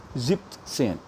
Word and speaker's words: siebzehn: And that makes Sieb, and then again condition of the rule of the, Z, which is the Sa. So it is Siebzehn. Siebzehn. So 17 is SIEBZEHN, pronounced as Siebzehn.